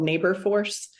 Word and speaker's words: NaborForce: There's an organization called Neighbor Force. It's spelt like labor, NABORFORCE.